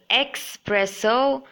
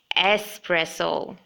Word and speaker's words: espresso: It shouldn't be pronounced as expresso, but make sure you pronounce just as it has been spelled here. It should be espresso.